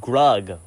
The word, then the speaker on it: Grug: This movie will only be remembered for the Grug memes, like this rhymes with Grug, or this is like rug.